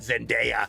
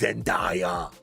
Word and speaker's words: Zendaya: It's not Zendaya, it's Zendaya.